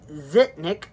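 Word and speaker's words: Zhitnik: guns tell her to fully young guns Alexei zitnick over that crook yeah used to pronounce it Nick pack is a kid well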